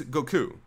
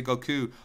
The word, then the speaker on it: Goku: They say Goku all the time. But it just bothered me because his name is Japanese, and I always pronounce Japanese the way it's supposed to be pronounced.